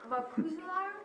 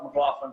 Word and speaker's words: McLaughlin: And my last name is McLaughlin, M-C-L-A-U-G-H-L-I-N.